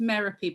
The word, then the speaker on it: Merapi: uh are you emirate my name is pronounced merapi by the way it's very odd but it rhymes thank you very much rhymes of therapies i tell people um